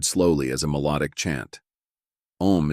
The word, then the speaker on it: Om: Om is the same root as the English Amen and is pronounced similarly.